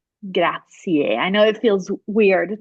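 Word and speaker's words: grazie: the word is spelled forget that it ends with an i and e and just close your eyes and listen it's graier graier I know it feels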